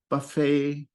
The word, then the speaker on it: buffet: There are other words in English like this that come from French where we don't pronounce the final T. Buffet, ballet are a couple of examples.